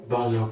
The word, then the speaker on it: Bono: there okay how do you say your name Bono Bono okay k o l l i e